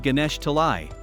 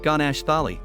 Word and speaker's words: Ganesh Talai: It is a settlement called Ganesh Talai. As a child, he mispronounced the word, calling it Ganesh Thali, but this all but confirms that he has found the right place.